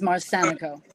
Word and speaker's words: Marsanico: Yes, and the pronunciation of my name is Marsanico. Marsanico, I do apologize.